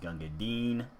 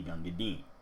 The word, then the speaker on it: Gunga Din: should not be pronounced gangadin as it's intended to rhyme with the word green but we all know